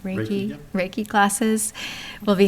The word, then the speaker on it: Reiki: Pronounce it right, Reiki.